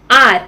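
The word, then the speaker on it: hour: आर, आर ओ यू आर हम ऐसे pronounce कर रहे हैं, हम लोग एच को प्रोनाउंस नहीं कर रहे हैं.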